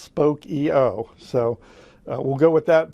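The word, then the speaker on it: Spokeo: the company's blog and evidently it is pronounced spoke EO so we'll go with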